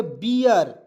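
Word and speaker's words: bear: आर तो इसे पढ़ेंगे बीयर बी से ब लिखेंगे और ई ए आर जब भी आएगा उसका उच्चारण ईयर के रूप में होता है तो बियर हो जाएगा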